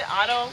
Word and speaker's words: Autobahn: How do you pronounce it? Autobahn. It's like how Bostonians would say barn. Bun. Ah, got it.